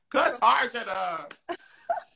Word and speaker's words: Cartagena: No, ask someone to pronounce it for you, girl. Cartagena.